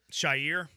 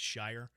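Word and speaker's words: Al-Shaair: Shy, he called him. Aziz al Shier. He called that to Aziz, which it's as we all know, it's Shire.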